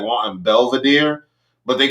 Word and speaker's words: Belvedere: to be like wanting belvedere but they couldn't pronounce the v in it so they call it belbadeer and i'm like i'm